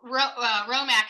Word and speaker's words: Hromek: wonderful and and so romack is spelled h-r-o-m-e-k for those of you who